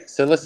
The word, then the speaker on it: psilocin: When ingested, psilocybin converts into psilocin. Am I pronouncing that right? Psilocin?